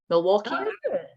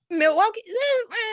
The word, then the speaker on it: Milwaukee: thank you and isbs is the us somewhere milwaukee i probably pronounced that wrong milwaukee there we go there we go milwaukee um